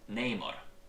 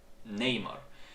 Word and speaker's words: Namor: When Namor introduces himself to the Wakandans, he does it in person, and he says to them, "My enemies call me Namor."